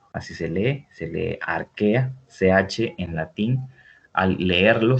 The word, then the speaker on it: arquea: llama dominio arquea así se lee se lee arquea ch en latín al leerlo se pronuncia como caja o se escribe como q